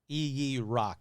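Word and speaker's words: ijiraq: same thing anyway so i'm just going to go with ee rock because that seems to be the most prominent one um it's from the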